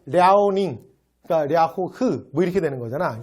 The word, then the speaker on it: 랴오닝: 근데 이걸 중국 발음으로 하면 여러분 중국 거보다 이렇게 이런 말 못 들어봤어요? 랴오닝성이라고 부르는 거? 그게 요거야. 그러니까 이거 봐. 랴오닝, 그러니까 랴호흐 이렇게 되는 거잖아.